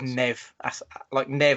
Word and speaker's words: Neve: But I remember reading an interview with her in FHM way back where she said it was Neve, like short for Neville, which maybe they're big fans of Gary and Phil in the United States.